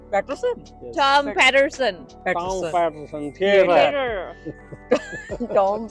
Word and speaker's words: Patterson: ये है टॉम पैटिसन। टॉम पैटिसन। पैटरसन पैटरसन।